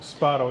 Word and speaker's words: Spado: If I'm pronouncing his name good, Ori Spado. Spado, yeah.